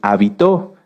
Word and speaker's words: habitó: muchas definiciones de hecho si cambiamos el acento de la palabra hábito lleva acento en la a se refiere a esto a nuestras costumbres y si lo cambiamos hacia el final es habitó que viene de habitar fíjense que como en